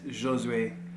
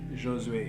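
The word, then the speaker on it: Josué: At first when I came into the States, everyone called me Josu because my name looks like Josu, but there's an accent on the E. It's totally random here, not even part of the video. And then I started going by, and then I started going by Josue, but the actual pronunciation of it is Josue. Josue, it's French.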